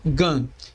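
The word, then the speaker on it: גן: ser translada como simplificando ela é lida como gan e significa Jardim o n final deve ser lido como um n mudo não como em português Ben o bay mas como n da primeira sílaba de ponto ou n ou do inglês alone ok o mesmo de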